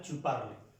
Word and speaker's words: parles: Se pronuncia igual, tu parles.